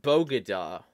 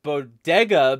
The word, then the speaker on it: bodega: but the point is that yeah it's not pronounced bogada but this is what happens when you have